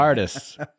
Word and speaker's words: Bartis: So it is with he pronounces every letter of that last name. Bartis.